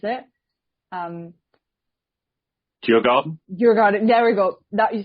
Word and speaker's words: Djurgården: I'm not going to try and pronounce it. Djurgården? Djurgården.